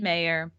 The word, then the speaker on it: Mayr: and it's Mayr, but like these are just small details. Do I always do the last name wrong on you? Is that what I? It's okay. Mayr, I could have right? told you in advance. Mayr. Yeah, like John Mayr.